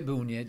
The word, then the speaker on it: Boonyeds: And so Boonyeds, is that, I'm pronouncing that correctly? Yeah, Boonyeds, yeah.